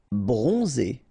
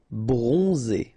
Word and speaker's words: bronzé: Bronzé, so O-N, on, and then Z, it's really pronounced like Z. Bronzé, bronzé. Superstitieux, okay, so final X not pronounced.